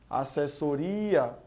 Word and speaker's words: assessoria: E por fim, assessoria, aqui a gente vê que há também a tonicidade na penúltima sílaba.